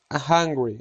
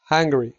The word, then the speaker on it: hungry: To look hungry. Parecer hambriento. Hungry. Baja la mandíbula al pronunciarlo. Pronunciación. Incorrecto. Hungry. Correcto. Hungry.